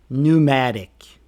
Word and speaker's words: pneumatic: The P is silent in PS or PN words.